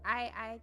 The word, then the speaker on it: Ei: We have the word I, that means egg. And that is like how we pronounce it.